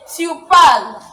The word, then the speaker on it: parles: However, you see the pronunciation is the same, but in writing is not the same, isn't it?